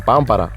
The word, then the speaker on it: pámpara: lo primero es que todos escriben pampará pero pronuncian pampará por lo tanto se están olvidando de que su palabra nueva lleva un acento en la a de la primera sílaba por ejemplo yo menor